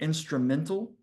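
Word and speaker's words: Instrumentl: use it, is called Instrumental. And I don't get any kickback for referring you to this site. It's spelled instrumental, but at the end it's MENTL. So it's not instrumental AL at the end.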